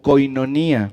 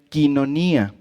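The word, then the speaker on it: κοινωνία: Seguramente la mayoría ubicamos esta palabra como koinonía, ¿no? Pero realmente se pronuncia quinonía.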